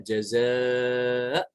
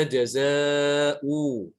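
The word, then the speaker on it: جزاء: Kalau kita wakaf disuruh wakaf misalnya, maka dibacanya jaza, gitu ya. Tidak boleh dibaca jaza'u. Salah ya. Tidak ada wawu di situ.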